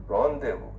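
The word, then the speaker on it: rendezvous: Rendevu. R E N D E Z B O U S. Find the pronunciation. Ramdeu is a secret meeting.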